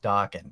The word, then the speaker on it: Daken: And it is pronounced Daken, because that means mutt in Japanese.